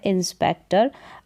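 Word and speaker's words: inspector: हैं इस स्पेलिंग के, तो यहाँ पर ये जो टी ओ आर है तो टॉर करके उच्चारण नहीं होगा इस ओ का, यहाँ पर ओ का उच्चारण क्या होगा, अ करके होगा, इस नियम के अकॉर्डिंग,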